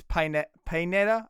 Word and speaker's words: Pineda: It's not Panetta. It's Pineda. I think.